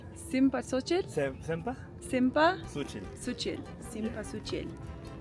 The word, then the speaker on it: cempasúchil: Cempasúchil. Simpasuchil?